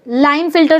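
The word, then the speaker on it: Klinefelter: लाइन printers syndrome के इस silent के को नहीं पढ़ना है क्लाइंट नहीं बोलना है लाइन फील्डर सिंड्रोम बोलते हैं इसको इसमें यह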